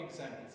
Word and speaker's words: example: Which one is heard louder? Example, right. Example. Za is heard louder. So, za, as it is heard louder, it is called stressed syllable.